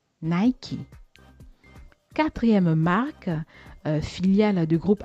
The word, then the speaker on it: Nike: Tous les francophones le font, c'est devenu une institution de dire Nike. Et pourtant, notre fameux Nike se prononce en réalité Nike. Nike.